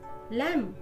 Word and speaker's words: lamb: B is not pronounced in these words. B चा उच्चार या शब्दांमध्ये केला जात नाही. Bomb, climb, comb, crumb, doubt, dumb, lamb, plumber, numb, thumb.